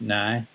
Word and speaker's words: now: In Belfast it's now, usually pronounced nigh, and County Antrim and Derry will put hay onto the end.